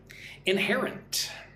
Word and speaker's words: inherent: Inherent. Look at the word inherent. Inherent. Stress goes on the second syllable again, hair. Inherent.